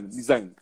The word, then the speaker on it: Nizam: assim que se pronuncia, Nizam, né? Ele falou que Isso. tu puxa o N e fala o Zan, Nizam.